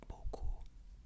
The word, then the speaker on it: beaucoup: Merci beaucoup. Beaucoup means a lot. When you see it spelled, you'll see a P there. You do not pronounce that P. It is pronounced beaucoup. Beaucoup.